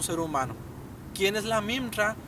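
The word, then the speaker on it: מימרא: la palabra de hashem el término palabra en el arameo se pronuncia mimra y en el hebreo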